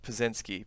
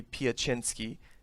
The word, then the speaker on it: Piecznski: this is yeah uh so in the United States it's pronounced pozinski but that's that's not correct and interesting yeah how it's supposed to be addressed in Polish we're missing a letter it's it's why um so it should be piachinski with the Y but it's it's spelled